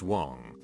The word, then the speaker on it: Wang: I, a Caucasian, was dating an Asian girl with the last name of Wang, pronounced Wong, who had a penchant for starting drama and arguments.